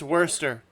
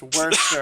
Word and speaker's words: Worcester: Worcester sauce Worcestershire it's worser more store for Saturday yeah I recently found out it's pronounced worser I'm like you mean